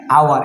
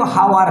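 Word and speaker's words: hour: একই রকমভাবে হচ্ছে এন আওয়ার, এটা কিন্তু হাওয়ার না, এটা কিন্তু হাওয়ার নয়, এটা বরং এটাকে আমরা বলি কি আওয়ার, আওয়ার, এটা কিন্তু ভুল উচ্চারণ, এটা হচ্ছে আওয়ার, ও ইউ আর আওয়ার, কিন্তু লিখতে হয় হাওয়ার।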